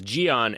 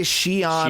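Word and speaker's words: Xi'an: love it, and I love that you So pronounce good. it correctly because Yeah. everybody says Gion, and they don't have that as a sound in Oh, that really?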